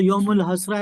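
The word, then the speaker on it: यौमुल हसरा: अगर इसमें ता जोड़ देंगे तो यमुल हश्रता हो जाएगा। तो ता उसको साइलेंट है तो यमुल हसरा यानी हसरत का दिन।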